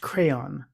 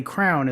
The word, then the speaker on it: crayon: of doing it and apparently it's just a regional thing on the west coast apparently Crown is quite popular so I guess because